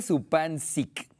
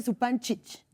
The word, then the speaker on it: Zupančič: sea, se escribe Zupancic. Y se pronuncia Zupančič. A ver. No, pues ya lo dije ¿Quién mal. sabe? Ya la vergüenza me Zupančic.